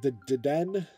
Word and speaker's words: Dedenne: How is it pronounced, Liam? Dedenne.